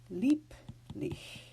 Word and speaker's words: Lieblich: So we are going to actually pronounce these B's like they are final in the word. Lieblich and Liebchen.